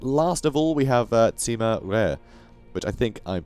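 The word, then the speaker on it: Sima Rui: pronunciation or whatever but it's like rare so like this steak is rare lovely nice and bloody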